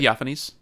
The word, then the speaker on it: Theophanes: Theophanes.